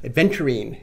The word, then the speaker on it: aventurine: Aventurine. So it rhymes with green.